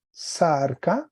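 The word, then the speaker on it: σάρκα: Y el acento se movió a la primera sílaba, aquí sobre la A, sarca, acento agudo.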